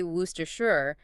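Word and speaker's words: Worcestershire: It's due to a historical sound change called elion, which is quite common in historical English place names. Multiple unstressed consonants just disappear and vowels reduce right down to the schwa sound that ooh sound. Wow. If you can confidently say woohashure, you've genuinely conquered a significant linguistic legacy. It's a badge of honor almost.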